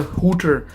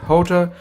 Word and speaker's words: Hotor: there we go so this is the hooter I'm sorry the quarter that's what yeah that's how you pronounce it Jota car vacuum cleaner wet